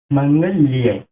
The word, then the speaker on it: মঙ্গল্যে: এখানে আছে মঙ্গলে, তাই এর সংস্কৃত উচ্চারণ হবে মঙ্গল্যে।